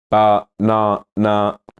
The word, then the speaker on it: banana: It's on the second syllable.